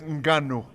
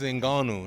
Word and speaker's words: Ngannou: Francis Ngannou. Why you have to say it that way? All right, how do I say it then? Francis Ngannou, not Ngannou.